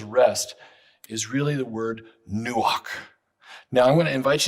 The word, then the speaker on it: nuach: how to pronounce it in english we don't have gutturals that ch on the end is kind of breathy back of the throat sound okay do not turn